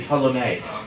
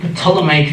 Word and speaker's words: Ptolemaic: Again, Don't pronounce the P, it's only Ptolemaic. Ptolemaic theory.